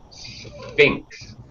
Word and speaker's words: Sphinx: Okay, this is a ridiculously hard word to pronounce. It sounds like S and then F. Sphinx.